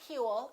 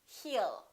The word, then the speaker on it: he'll: Remember, don't pronounce that W. A lot of my students still tend to put a little W and they say he'll. It's not he'll, it's he'll.